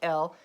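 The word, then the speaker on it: אֵל: god a singular god is an l it's pronounced l i wrote it correctly this time it's read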